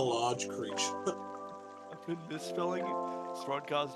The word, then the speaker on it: Throdgar: Throdgar, it's Throdgar. Alright, going into it. When you say it like that, sort it of kind of want sounds to- like a slur. Oh, you fucking Throdgar. Bro's saying it with the short R, not the long R.